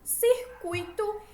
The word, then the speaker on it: circuito: Com a tonicidade da palavra tuito, certo? A sílaba tônica tuito mais forte.